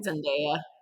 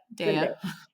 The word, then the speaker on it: Zendaya: Zendaya. Zendaya.